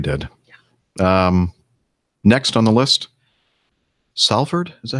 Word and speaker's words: Salford: Next on the list, Salford. Is that how you pronounce that, Nick? Salford, yeah.